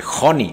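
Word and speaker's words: Honi: profeta israelita de nombre Joni, H-O-N-I. La H en el idioma hebreo se pronuncia como J, entonces H-O-N-I suena Joni, y Joni en el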